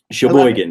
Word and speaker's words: Sheboygan: Sheboygan, you got it.